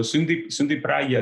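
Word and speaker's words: Sundy Praia: this idea of kind of sustainability, is the Sunday Praia. Am I pronouncing that Yes, correctly? it's so Sundi Praia.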